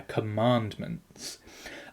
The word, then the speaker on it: Commandments: the word Commandments now in spoken text the middle syllable is given the most emphasis there are Commandments and this is partly